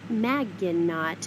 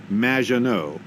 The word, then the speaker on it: Maginot: there will be robots maginot welcome thanks Amy however you have mispronounced my name its which rhymes with badge as in duh and no as in more than you maginot anyway thank you for